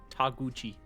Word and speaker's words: Taguchi: Taguchi. So Okay. the emphasis would be on the U.